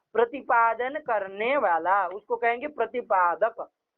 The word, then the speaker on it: प्रतिपादक: प्रतिपाद्य प्रतिपादक भाव संबंध होगा। लिख लीजिए, कौन संबंध होगा? प्रतिपाद्य प्रतिपाद्य, ध्यान दीजिए कोई गलत उच्चारण कर रहा है। प्रतिपाद्य प्रतिपादक भाव संबंध होगा।